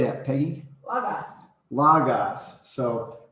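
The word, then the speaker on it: λόγος: Logos. Logos. So pronounce like Logos.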